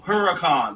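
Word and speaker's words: Huracán: Because at Firehouse, pronounce it. Huracan. It's a Lamborghini. Lamborghini Huracan.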